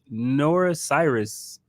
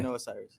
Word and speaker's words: Noah Cyrus: You got Doja Cat, Nora Cyrus. Noah. That's Noah, okay. Noah Cyrus.